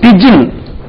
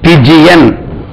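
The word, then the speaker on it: pigeon: எஸ் அதே மாதிரி இனி சின்ன சின்ன வார்த்தைகள் பாருங்க பிஜின் பிஐ ஜி இ ஓ என் பிஜி என் டவ் புறாக்கு ஒரு வேர்ட் இருக்குல்ல பிஜின் இது பிஜி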